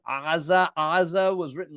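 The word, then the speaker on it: עזה: The Greeks were like, we don't have a letter that sounds like that in our language. Let's just write Gaza. And this is why today we call the place Gaza. But historically, it was aza, and still today, aza.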